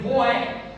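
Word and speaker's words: רֹעֶה: A palavra pastor no hebraico ela se escreve roé. R o e h.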